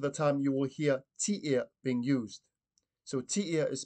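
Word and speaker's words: Tiea: Most of the time you will hear tia being used. So tia is spelled T-I-E-A.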